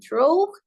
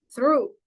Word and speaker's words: through: Jadi bukan throw, bukan truh tapi through.